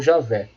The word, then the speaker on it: Javé: esse nome vem sendo substituído pela forma e aveh ou Javé que é porque a pronúncia mais próxima do original tem programa vendo